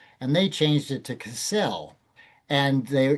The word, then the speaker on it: Kissell: It had been pronounced Kistle and they changed it to Cassell. And they by moving the accent from the first syllable to the second syllable, they hoped that it